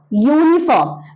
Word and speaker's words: uniform: use a for example a uniform because it sounds as why a uniform a European